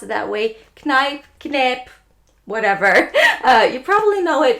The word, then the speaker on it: Kneipp: It is from the brand Kneipp. Not sure if you pronounce it that way. Kneipp, whatever.